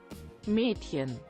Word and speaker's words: Mädchen: How do you pronounce that again? Hold on. Hold on. Mädchen.